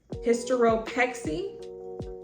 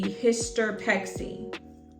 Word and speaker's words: hysteropexy: combined you get Hyer hysteropexy hysteropexy and in this situation an O is added to ease the pronunciation because if not it would be hisexy which doesn't really it